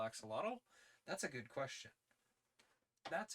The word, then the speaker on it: axolotl: an archaic spelling of axolotl, which purportedly, don't hold me to this. You're supposed to say ahuatl. Uh, Like the X is pronounced phonetically differently is the big thing.